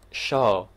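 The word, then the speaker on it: seo: sheen ma è ciò ripeto la pronuncia è show quindi analogamente a quanto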